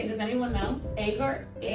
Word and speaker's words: Agur: Agur? Agur.